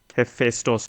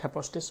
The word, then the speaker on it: Hephaestus: Maybe if you can introduce us to this project Hephaistos too, if I'm pronouncing it right. Hephaestus, it's Project Hephaestus.